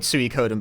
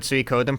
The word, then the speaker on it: Suikoden: First you've heard Suikoden pronounced with 4 syllables? Well, I'm correct, so... I disagree. It's actually 5, but don't worry about it. Midori onegai, thank you for the Prime Gaming. Suikoden. Den. Like, it's 5 mora, but like, den is... it's fine, it's like a syllable.